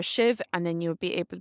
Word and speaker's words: sibh: you would just say shiv. So fecha me heart shiv. Pronounced different in different dialects, but all you'd have to add in is your SIBH for shiv, and then you'll be